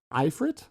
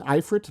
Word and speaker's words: ifrit: As far as I can tell, it's the ifrit. The ifrit may be the most correct way to say this, but some people say ifrit or ifrit or ifrit. So choose your poison.